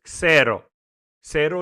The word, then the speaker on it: Xero: And by the way, people, in case you didn't know, zero Linux is not pronounced zero Linux.